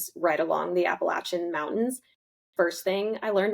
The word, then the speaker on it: Appalachian: well it's like anyone who didn't grow up around them say Appalachian but anyone who did knows it's Appalachin and Appalachin for my safety I'm going to jump on the Appalachin train.